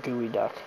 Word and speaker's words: geoduck: Rock restaurant in Seattle geoduck is the world's largest burrowing Clan see I told you freaking Seafood it's actually pronounced gooey duck but and of course